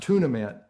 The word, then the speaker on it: tournament: tournament you could is the word is pronounced tunament in Augusta.